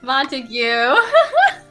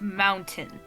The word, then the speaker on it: Montague: sad see you later montague it's mountain and you'll say it like mountain